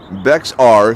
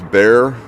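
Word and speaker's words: Bexar: morning so gary friends used to say bex r saying the x on purpose he knew how to how to say it and just wanted to have fun it's like bear isn't it didn't we talk about that one it's bear or bear bar something like that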